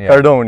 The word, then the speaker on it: Cardone: the grand Cardon Cardon video how do you pronounce Cardone Cardone yeah videos and he said it makes sense